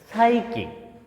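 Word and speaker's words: psyche: এখানে সাইকে সাইকে অর্থাৎ বানানটা কিন্তু পি এস ওয়াই সি এ সাই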